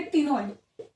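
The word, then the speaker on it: ctenoid: तो इसमें आपको याद करना होगा, एक होता है इसमें साइक्लॉइड और एक होता है इसके अंदर टिनोइड। एंड टिनोइड के अंदर सी साइलेंट रहेगा।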